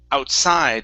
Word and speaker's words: outside: instead of outside it's outside the stress is on the end outside outside okay good